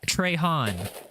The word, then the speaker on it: Trahan: It's pronounced Trahan.